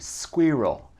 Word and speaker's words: squirrel: Toujours le R, c'est ici, squirrel, squirrel.